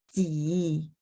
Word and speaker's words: 几: Oke, nomor 3, 去今天星期，再来是几 nada 3 ya. Jadi diayun turunnya ke bawah.